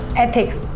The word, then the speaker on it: एथिक्स: एथिक्स should एथिक्स नहीं एथिक्स। ऐसे pronounce करो। एक बार बोल के बताओ।